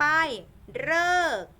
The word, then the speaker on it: ฤกษ์: นะ คะ ต่อ ไป ฤกษ์ ฤกษ์ อัน นี้ ออก เป็น เสียง เรอ มี อยู่ ตัว เดียว นะ ลูก เสียง เลอ นะ คะ เสียง เร่อ จะ